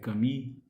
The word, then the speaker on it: Camus: E nisso eu concordo com o que Albert Camus, ou Albert Camus, se nós formos afrancesar a pronúncia do nome do pensador, filósofo, pesquisador